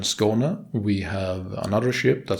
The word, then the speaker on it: Skåne: The first part of the name is pronounced as the SCO in score, and the NE part is basically like you would say nepotism.